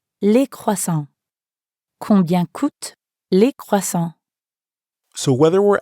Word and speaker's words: coûtent: Here, coûte ends in ENT, and croissant ends in S. But we don't pronounce those letters at the end, which we know sometimes happens in French.